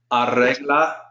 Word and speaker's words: arregla: Notice I'm rolling the R's because there's 2 of them. That R I don't roll. Tu madre arregla la sala hoy.